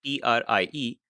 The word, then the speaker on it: trie: This is spelled TRIE, and I have heard some users pronounce it tree, but most users refer to it as a trie structure just to distinguish it from a regular tree structure.